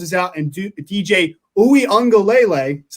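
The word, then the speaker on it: Uiagalelei: because trevor lawrence is out and do dj ooey on galele that's how you pronounce that by the way there we go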